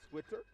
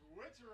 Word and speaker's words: Switzer: I went to school with a young man, Matt Schweitzer. Same spelling, different pronunciation. I couldn't remember from a couple years ago. So this one's Switzer, though. Switzer, yeah. Yes.